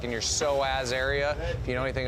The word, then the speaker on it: psoas: Oh, dude, I got a bad psoas. psoas. You really got to work those psoas muscles Starts out. with a P. Yeah. Really? Yeah. Spell it. Psoas starts with a P-S-O-A-S.